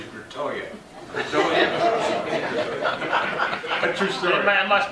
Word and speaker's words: Gratiot: my parents moved from Chicago, and they would not pronounce Gratiot. It was always Gratoya.